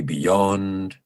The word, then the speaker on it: beyond: You may have noticed that when I say beyond, I used a long syllable in yond. I produced beyond with extra length.